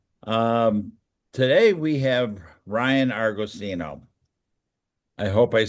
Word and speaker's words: Argosino: Um today we have Ryan Argosino.